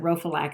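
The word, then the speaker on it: Rhophylac: um of rhogam and like i said rophalac is just like it and rophalak is spelled rho r-h-o-p-h-y-l-a-c and both of these are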